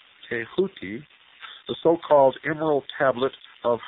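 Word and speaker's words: Thoth: the Ibis headed scribe of the Gods th pronounced touti the so-called Emeral tablet of Hermes is said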